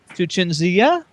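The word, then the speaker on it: Cinzia: Give a special shout out to Chinzia. Yes. Is that how you pronounce it?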